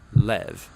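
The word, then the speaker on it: לב: this prayer heart which in Hebrew is sometimes pronounced or more often in a shorter form Lev now different cultures throughout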